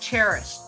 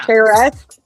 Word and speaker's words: Charest: time, I thought Travis Charest's name was pronounced Cherish. Oh, well, that's how it's spelled. Yeah. Charest. Yeah. Yeah. But it is Charest.